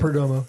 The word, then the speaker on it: Perdomo: Sal Perdomo, is that pronouncing it right? Perdomo, yeah.